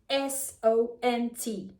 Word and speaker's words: sont: The spelling is O-N-T, S-O-N-T, or V-O-N-T. But the T is always silent, and also the sound is kind of nasal.